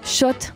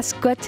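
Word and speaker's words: Schott: l'envi de erwin schrott parce qu'on prononce shot pas scott les loulous un de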